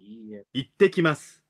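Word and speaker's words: いってきます: Ittekimasu. Itekimasu. Recuerden, la T doble se pronuncia con tanta fuerza que hay una pequeña pausa entre ellas.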